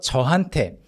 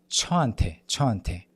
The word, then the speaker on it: 저한테: Pay attention so that you do not sound like 저한테. Okay? 저한테. If you somehow keep sounding like 저한테 when you read this portion, try to lower the pitch of your voice a little bit and it'll force the sound to become a little more like 저한테. So 저한테. Lower the pitch. 저한테. It's really hard to sound like 저한테 when you keep your voice low.